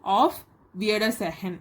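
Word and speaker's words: Auf Wiedersehen: அப்புறம் பாய் அப்படின்னு சொல்கிறது ஆஃப் வியர்டர் செஹன் அப்படின்னு சொல்லணும்.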